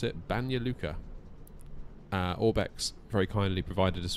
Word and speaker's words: Banja Luka: So we're heading over to, I believe this is how you pronounce it, Banja Luka.